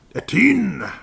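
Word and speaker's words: Etienne: At least that's a guy at works pronounces his name because it's spelled exactly the same. Eten.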